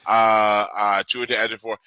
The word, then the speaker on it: Chiwetel Ejiofor: I watched a bunch of YouTube videos that actually tell you how to pronounce his name. That's simply all it is. Chiwetel Ejiofor.